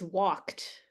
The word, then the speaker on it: walked: to actually think like this e is silent so it's walked this e is silent